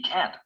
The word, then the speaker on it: can't: you ready yes Sam the negative modal can't is always pronounced with a clear vowel sound hat as in he can't play the affirmative modal